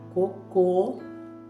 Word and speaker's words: cocô: A água de cocô cheira mal. Entendeu? Sem o acento coco, normal. Com o acento, aonde estiver o acento, a sílaba fica forte, fechada. Cocô, cocô, coco, cocô.